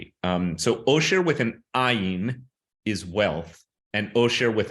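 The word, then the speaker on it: עין: But there's a slight difference in that ayin is correctly pronounced, or at least in the Yemenite tradition, correctly pronounced with a glottal stop, where you actually momentarily release the glottis at the back of the throat. So it is ayin, like that.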